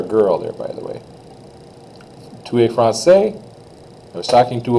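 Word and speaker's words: tu es: France to a is how you say it 2A 2A France you are French and was I talking to a boy or a girl there by the way Tua France I was talking to a boy because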